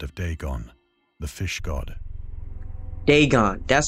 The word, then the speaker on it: Dagon: ancient Philistine legend of deeon the fish God Deon that's how you say it okay oh boy